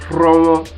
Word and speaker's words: Romo: Now, in pronouncing this ROH digraph, we roll our tongue. When we want to pronounce ROH digraph in Urhobo language, we roll the tongue.